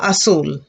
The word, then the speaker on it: azul: global assume global assume the z has the s sound class a global assule global azul will and i think